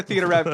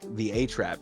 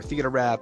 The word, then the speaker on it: Theatrrap: So that's where Theatrrap came from. But it actually, when I first started streaming, people were like, the A-Trap is how they would say my name.